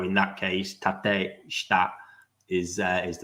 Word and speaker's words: tateshita: When in Japanese, the E's are pronounced as an A and I's are E's. So in that case, tateshita is the right way to say that.